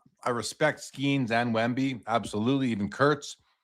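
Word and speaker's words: Şengün: It's pronounced Sengun, like a sh sh Sengun.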